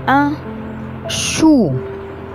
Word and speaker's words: chou: آخر كلمة معانا un chou, un chou.